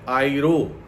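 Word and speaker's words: αἴρω: ये जो उठा ले जाना शब्द यूनानी में उपयोग किया गया है, वो शब्द है आइरो। अगर इसका इंग्लिश में स्पेलिंग कोई कहे तो AIRO, आइरो।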